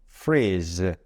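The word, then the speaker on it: freeze: 이렇게 발음해줘요 즉 그리고 영어 단어 끝에 알파벳 e는 발음하지 않으니까요 자 한번 따라해 주실까요 freese 자 이제 음식 다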